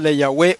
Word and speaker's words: le Yahweh: Ahora vamos a coger la palabra Le Yahweh. Si usted le quita el prefijo le, ¿cuántas sílabas le quedan? 2 sílabas. 2 sílabas. Y es que tiene que tener 3 sílabas en este caso para que haya un ritmo perfecto.